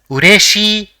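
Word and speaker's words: うれしい: So it will be pronounced as ureshi, which means glad or happy.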